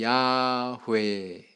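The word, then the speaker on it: 야훼: 습관상 이런 발음은 없더라 그러면 이걸 어떻게 발음하는게 가장 현실적으로 그 사람들의 발른 발음하는 습관에 일치되는 거냐 따져봤더니 야회 아시겠어요 야회 그래서 최종적으로 야회 이렇게 정해졌다는 거예요 자 결론은 뭡니까 여호와는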